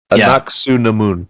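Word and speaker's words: Anck-su-namun: I can't even pronounce her name. The second uh Anaku Namun.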